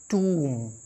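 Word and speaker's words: tomb: बम बम नहीं बम फिर टी ओ एम बी इसे पढ़ते माय रिय लन टूम शायद मैंने इसे पिछले वीडियो में भी शायद कवर किया है एक बार और मैं आपको यहां बता रहा हूं इसे हम पढ़ते हैं टूम ये देखिए सी यू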